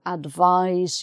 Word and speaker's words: advise: make it different but to advise somebody i have to advise you about something is a z sound that's the verb um if you have an